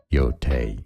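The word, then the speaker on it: Yōtei: Play is Ghost of Your Toy. Is that how you say it? Your Tay, therefore, the English pronunciation is as Ghost of Yote.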